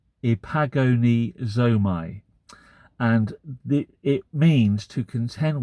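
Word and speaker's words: ἐπαγωνίζομαι: And the word for struggle or contend for in Greek is the Greek word, and it's quite hard to pronounce, epagonozomai. Epagonizomai.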